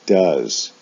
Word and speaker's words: does: an o sound go for the s form they both have o e s as their ending but do is pronounced does go is pronounced goes in the s form then